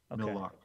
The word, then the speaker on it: Mille Lacs: It's also not Millie. It's Mill. Mill. Okay. Thank you. It's a French word. Okay. And it could be just lock. I don't know if they pronounce the S.